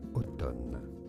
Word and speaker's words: automne: Automne.